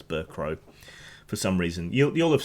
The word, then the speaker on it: Bercow: of the House is John Burke oh he'll I keep mispronouncing his Burke row for some reason you'll